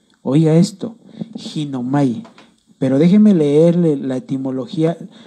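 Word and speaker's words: γίνομαι: Viene del griego, con el numeral del diccionario de números de Strong, que le pone el numeral 1096, y se pronuncia ginomai. Oiga esto, ginomai.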